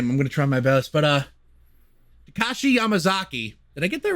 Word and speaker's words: Takashi Yamazaki: I'm gonna try my best, but Takashi Yamazaki. Did I get that right? That's right. Takashi Yamazaki. Okay, I pronounced it right.